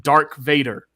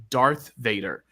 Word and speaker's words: Darth Vader: pronounce the names right I was calling him Dar Vader I was like oh it's dark was supposed to be Dar Vader my mom says Darth Vader and this that was